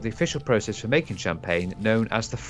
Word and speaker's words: Champagne: Oh yes, champagne was actually an accidental invention. So this was monks, actually. Now, the monks of Champagne. Champagne, you got that to authentic French pronunciation.